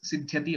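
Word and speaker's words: सिद्ध्यति: So siddhyati is the dhatu basically. When we use siddhi, siddhaha, etc., some other form, that is where we get that the sanyuktaksharam of the and the. So But otherwise it is siddhyati only.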